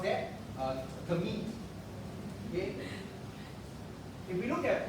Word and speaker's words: gamete: Okay, so how do you pronounce that? Gamete.